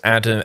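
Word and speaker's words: Addam: He's Adam, Alan is spelled A-L-Y-N, and Adam is A-D-D-A-M.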